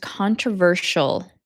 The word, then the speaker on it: controversial: Anyway, controversial, it's pronounced controversial, shul, not controversial, controversial.